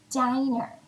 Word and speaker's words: diner: to go to the diner i know the word looks a lot like the word dinner doesn't it except you'll notice in the word diner there's only one n so it's a long i if we were talking